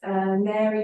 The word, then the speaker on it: Mary: So it's Mary Jewelry, but Mary is spelled like the word fairy, like MAIR.